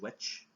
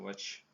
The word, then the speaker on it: VVitch: No, it's basically the VVitch with TVs, but I think it's going to be pronounced witch.